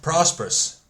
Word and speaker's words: Prosperous: How do you pronounce it? Oh, prosperous.